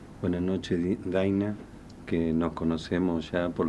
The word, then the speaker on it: Dina: Pronuncié bien su nombre y apellido, Dina. Bueno, sí, en realidad mi ¿Cómo nombre se se pronuncia? pronuncia Daina, pero ya estoy acostumbrada, porque es tan distinta la pronunciación Daina a Dina que bueno, pero en